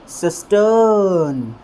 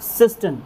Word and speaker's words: cistern: लेकिन एक गलती आपको यहाँ पर जो नहीं करनी है वो ये है कि इस वर्ड को देख करके यहाँ पर आपको इसे कुछ इस तरह से प्रोनाउंस नहीं करना है, सिस्टर्न सिस्टर्न, क्योंकि ये फ्लोइंग अ की साउंड हो जाएगी और फ्लोइंग अ यहाँ पर है नहीं।